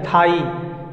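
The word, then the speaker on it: thigh: लेकिन एक ट्रिक बताए कि GH हमेशा साइलेंट होता है, यानी HI यहीं तक साउंड होता है। HI हाई, THI थाई, SI साई, GH हर वर्ड में साइलेंट है।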